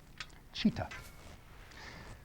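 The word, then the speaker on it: citta: And actually it's pronounced with a ch sound. It's written sita, chitta.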